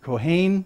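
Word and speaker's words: כהן: look for is this is this word actually in the Old Testament pronounce that Kahane but it's Cohen in this or names today Kahane so let's find out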